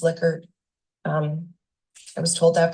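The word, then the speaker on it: Likert: primarily include multiple choice liquor and it is pronounced liquer um I was told that by someone who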